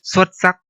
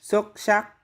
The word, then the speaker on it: xuất sắc: of the north, but in Southern Vietnamese, S is sh and X is S. For example, the word for excellent in Northern Vietnamese xuất sắc, and in Southern Vietnamese. xuất sắc.